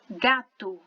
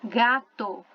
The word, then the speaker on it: gato: No português, a gente tem a tendência a falar gato, como se terminasse com U. No espanhol, não. Terminou com a letra O, a gente vai pronunciar O.